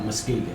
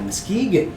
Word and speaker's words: Muskegon: No, Muskegon. Oh, Muskegon.